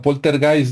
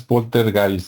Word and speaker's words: poltergeist: O bueno, poltergeist, ¿no? Porque nosotros lo pronunciamos como se escribe, pero como es alemán, supuestamente es poltergeist, ¿no?